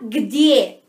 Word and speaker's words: где: Que se fala где, где.